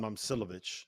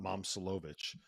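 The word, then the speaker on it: Momčilović: Okay, first of all, it's Milan Momcilovic, not Momcilovic.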